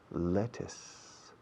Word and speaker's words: lettuce: you see e led to thing but we pronounce it lettuce lettuce okay well what's your question is there